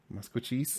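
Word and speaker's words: Maskwacis: It's the real spelling is MASKWICIS, but it's pronounced more like MUSKWACHEES. Musquachis.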